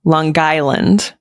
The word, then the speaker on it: Long Island: Island accent they're hysterical you have to say it correctly longland longland longland longland do we have